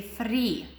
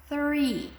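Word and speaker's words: three: They say free. No, it's 3.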